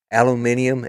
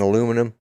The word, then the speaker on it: aluminium: because we are yeah aluminium and aluminum are both correct that that's true that's true they are both on the periodic table both pronunciations are exactly correct both spellings are correct